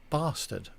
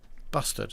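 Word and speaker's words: bustard: was hit by a corey bastard busted sorry busted is how you pronounce it what that's a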